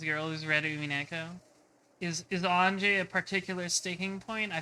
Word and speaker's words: Ange: Her name is two characters, so it's two syllables. Ah, that makes sense. So it is Anje. Anji? Do you pronounce it like Angie?